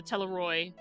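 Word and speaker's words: Telophroi: you know the telephone the teleroy excuse me is how you say it actually the teleroy uh i don't know if that that the ph is pronounced as an f i can't remember uh are under the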